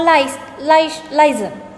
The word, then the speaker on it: license: A lot of people call this license or license. I don't know where this sh sound is coming from, but it is wrong. It should be pronounced as license.